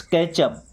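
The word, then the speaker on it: catch: Let's कैच अप। कैच अप का मतलब होता है मिलना। देखिए टी साइलेंट है ना? सी एच के पहले टी आता है तो साइलेंट ही रहता है।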